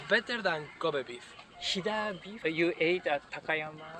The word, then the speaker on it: Hida: Many people love ramen, and maybe Ida beef. My top is Ida beef. For me, it's better than Kobe beef. Hida beef?